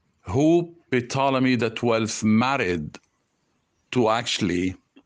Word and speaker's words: Ptolemy: Ptolemy is the way how the name or this title is pronounced. Ptolemy, not Batlamyos and not Batlaimos, or not Ptolemy. The way how I pronounced it at the beginning is from the hieroglyphic cartouches, which were depicted on the walls of the temples.